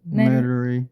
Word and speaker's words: Metairie: Metairie.